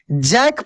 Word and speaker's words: jack: क पढ़ेंगे तो यहां सी के बाद नहीं ई दिख रहा है नहीं आई दिख रहा है नहीं वाई दिख रहा है तो सी को हम लोग क पढ़ेंगे कैसे पढ़ेंगे जय के क्या पढ़ेंगे इसको हम लोग जैक पढ़ेंगे इसको क्या पढ़ेंगे